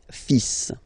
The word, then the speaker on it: fils: Okay, so it's le, and then even if you've got this L, well, basically you don't pronounce it, and then strangely you pronounce the final S. le fils, le fils, le fils, le fils.